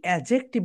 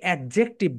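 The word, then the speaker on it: adjective: Okay, so my dear soldiers, এই অ্যাজেকটিভ গুলো তোমরা আজ থেকে ব্যবহার করবে। আমরা অনেক সময় যে ঘটনাটা করি সেটা হচ্ছে আমরা এটাকে অ্যাডজেক্টিভ বলি, কিন্তু রাইট প্রোনাউন্সিয়েশন কি বলতো? অ্যাজেকটিভ।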